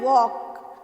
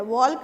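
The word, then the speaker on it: walk: फिर है वॉक, तो वॉक में हम ल नहीं बोलते हैं, वॉल्क नहीं बोलते हैं, वॉक बोलते हैं, सो एल जो है वो साइलेंट है।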